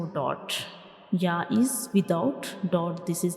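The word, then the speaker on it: ي: So this is the center of the tongue and it will touch the upper hard palate to pronounce Ya, like Ya. Ya.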